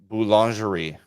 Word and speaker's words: Boulangerie: So this is a place that I am not going to be able to pronounce because I'll it's do French. It for you. Okay. You ready? Yes. Boulangerie.